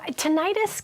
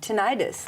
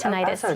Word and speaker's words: tinnitus: Okay, so tinnitus can come from many... I said it wrong. Tinnitus. Tinnitus, yeah. Tinnitus, okay.